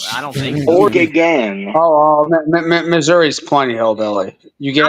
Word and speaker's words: Missouri: until 2015 but like people in Missouri refer to Missouri as Missour like I didn't know that H that that's really dumb yeah that's weird I mean at least say Miss like we when we talk aboutou missou or whatever you know but like it's Missouri what the I mean Missour just sounds lame stupid that's stupid yeah